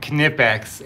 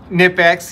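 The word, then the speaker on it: Knipex: lot easier so yes i said canipex and that is the proper way to say it but it's funny it doesn't matter how you say it online you're going to get the same number of people telling you that you're wrong so that's the way i'm going to say it and you could say it nip x you can use the silent k method if you want uh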